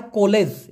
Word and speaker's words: kolej: কলেজ, কলেজকে বলা হয় কলেজ, এবং বানানটা দেখেন KOLEJ, কলেজ, কলেজ মানে কলেজ।